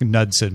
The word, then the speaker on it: Knudsen: called the Knudsen forts I think it's just nudson but it's spelled with a K in low pressure atmosphere